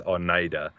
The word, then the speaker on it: Oneida: It's like Oneida, it pronounces it Oneida. Oneida, yeah. It's like, no, it's Oneida.